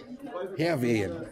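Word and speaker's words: Hærvejen: Und ich sitze hier mit Thomas Nielsen und der erklärt uns Herwehen. Ne? Ist richtig ausgesprochen?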